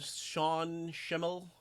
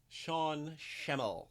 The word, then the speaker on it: Sean Schemmel: Sean Schemmel. Is that it? Yeah, that's it. Sean Schemmel. I think that's how it's pronounced.